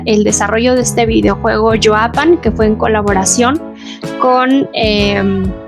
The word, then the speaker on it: Yaopan: Yoapan, esa es la pronunciación correcta.